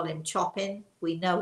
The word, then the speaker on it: Chopin: he's fascinated by he and I call him Chopin. We know it's really Chopin. We know, and we love to butcher the names.